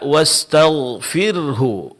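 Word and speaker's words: واستغفره: Jadi wastagfir fir ada bunyi eh fir eh wastagfir ini harus dijelaskan dan sering terjadi kesalahan adalah orang menghilangkan dan tidak menjelaskan huruf Homatis ini akan menghilangkan satu kalimat.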